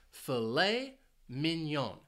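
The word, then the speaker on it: filet mignon: actually two words and the stress is on the second syllable for each word filet Minon now you might be wondering about why is it pronounced this way because of the spelling well this is a French word fet minion it's a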